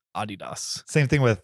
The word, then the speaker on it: Adidas: is that just because we started saying it Adidas and so everybody accepted it yeah I mean I I think that's a more uh correct way that Americans emphasize syllables right Adidas same thing with Hyundai